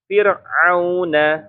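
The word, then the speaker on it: فِرْعَوْن: belakangah Oke atau diturunkan yang kedua ro sukun didahului kasr Ya rnya Sukun Tapi sebelumnya ya atau didahului harakatnya kasrah huruf nya Apun itu Gak disebutin di sini kan Ya harus kasr misalnya apa di sini Fir Ya Firaun ya Fir enggak enggak Fir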